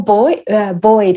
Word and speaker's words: buoyed: have you feel more boy buoyed is the word in english i think buoy is the american pronunciation you just feel a